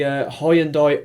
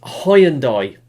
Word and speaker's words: Hyundai: Yeah, I'm sorry I fall into that trap of saying pronouncing the name wrong, because I'm English and I look at the word and I see Hyundai. Now I split the word up into syllables, and Hyundai, and it's a common trait with us in Britain, but it's Hyundai.